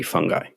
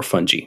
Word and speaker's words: fungi: Mycologists, which is what she was, study fungi or fungi, depending on whoever's pronouncing it.